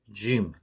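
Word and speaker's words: جيم: 그리고 요 짐은 발음을 어떻게 하냐면요. 우리 영어 쉬 있잖아요. 쉬. sh 발음. 그 쉬에서 지읒 음가를 더해주면 됩니다. 그래서 gym, 이런 식으로 발음을 하시면 되고요. gym 경우에는 입을 약간 오므리고 이렇게 내밀면서 내는 소리입니다. 이제 gym, 이런 식으로요. 그래서 이 gym은 발음 표기는 영어 J와 같습니다. J.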